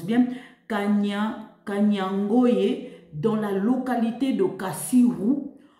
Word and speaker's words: Kanyangohe: 11h50 ce vendredi la position de M23 à kanyoe dans la localité il faut que je le prononce bien kanyangoye dans la localité de kassirou en groupement de